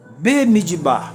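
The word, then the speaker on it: במדבר: Esse aqui é mudo, ó. Esse é audível, tá bom? B midbar no deserto. Isso aqui é audível, ó. Mid é mudo. Mid bar. Então, veja bem.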